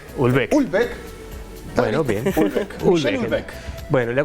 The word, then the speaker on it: Houellebecq: Prima, ¿cómo se pronuncia? ¿Es Houellebecq? Houellebecq.